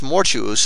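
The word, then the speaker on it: mortuus: double u for thus mortuous is pronounced like fatuous arduous conspicuous and similar words which are not perfect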